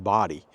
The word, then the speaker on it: Bodie: it says it's pronounced body. B O D Y. I did not know that. Even though it is spelled B O D I E locals say body and the name way